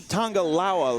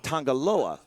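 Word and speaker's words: Tanga Loa: up color and elbow you say tangalawa like it's a different enunciation is that a uh i've always pronounced it tangaloa you have some is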